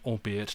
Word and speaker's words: albeit: Anthony lighten your anxiety the archaic word albeit does not rhyme with eight you see it with